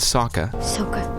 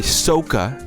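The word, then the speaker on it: Sokka: sorry ong and katara or between ong and saka oh oh sorry oh sorry soka are completely lost you know when it's this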